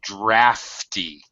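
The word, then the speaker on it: draughty: room sounds terrific okay in this case the GH uh is is an F sound so drafty drafty mhm uh as a matter of fact Americans even spell it differently we we actually spell it with a uh an F drafty a draft okay look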